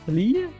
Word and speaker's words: Lille: Also, I decided to use the fortifications from Lille, I guess it's pronounced Lille.